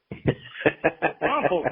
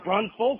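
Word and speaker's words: New Braunfels: Brunfels, not Brunsfels.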